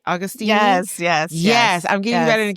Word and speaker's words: Agostini: Right, Augustini?